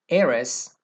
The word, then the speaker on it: heiress: Also, there are a few words that begin with a silent H that are preceded with an. For example, heir, heiress, honest, like an honest person.